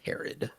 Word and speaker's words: Herod: I will say, believe from what I've heard the most, it's pronounced Herod.